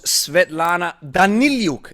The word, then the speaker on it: Svetlana Daniliuk: and gentlemen with me i have kettlebell coach svetlana danilyuk am i saying it right absolutely okay now